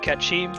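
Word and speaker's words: Cait Sith: So it could be like making fun of the fact that it's actually pronounced Ketchi, or it could be just a typo on Kate Sith somewhere that's funny.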